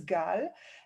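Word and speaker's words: גל: And then I realized, why not use the Hebrew pronunciation of wave, which is Gal?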